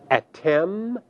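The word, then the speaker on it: את: The second feminine singular form, which also translates you, is pronounced in Hebrew at.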